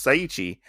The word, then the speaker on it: Seiichi: his name is uh seichi is that how you say it Su say suichi is is it sui is that how you say it yeah seichi saichi okay it's saichi and saichi is getting